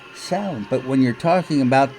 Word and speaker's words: Samhain: about this I always thought that it was pronounced Samhain but I've been corrected several times by people in the Pagan community saying it's not Samhain it's sound but when you're talking about the band you're